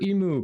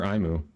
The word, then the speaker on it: Imu: a one-piece reference okay is it emu or IMU I am tell me how to pronounce it since you all I've not seen one piece clearly I'm not and I can buy Relic packs with faction standing yeah all right Emperor last call are you here I said it correct it's emu Emperor emu okay emu all right thank you for verifying do you try to